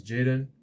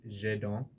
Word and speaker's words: Jaden: My name is Jaden. That's English pronunciation. Uh, my I guess I would say the French pronunciation of my name is Jadon, but we'll go with Jaden for now.